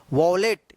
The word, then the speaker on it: wallet: इसको सही उच्चारण वॉलेट।